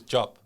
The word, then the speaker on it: Diop: it's going to the point where even i mispronounced my own name yeah so my surname is job right yeah d-i-o-p but everyone calls me let's